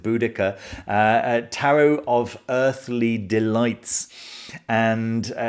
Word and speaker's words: Boudica: So depending on your pronunciation, Boadicea, I think some people pronounce it. I think most people pronounce it Boudica.